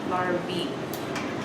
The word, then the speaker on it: larvae: And it's pronounced E, larvae.